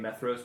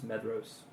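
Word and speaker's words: Maedhros: DH is always used to represent the sound of a voice voiced soft th in English. That is the th in then, not the th in thin. So, it's probably meros would be better than meros.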